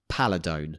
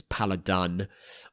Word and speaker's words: Paladone: But we've had many occasions where people have mispronounced it when they come and speak to us. Paladun or Paldone or Pladone or all these kind of weird variations because it's not a real word.